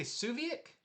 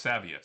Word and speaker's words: Saviuk: We have this and I always mispronounce his name. Uh You say Suviak? Alex Alex Saviuk.